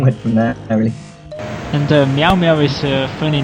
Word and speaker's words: Miaoux: How did you decide to It's what cats say in French, because like in Britain they say meow, but it's Meow, but in France it's spelled Miaoux, and I don't know, I like the sound of it.